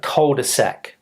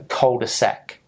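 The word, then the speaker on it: cul-de-sac: and come back out that is a a colder Sac now the meaning in French is different but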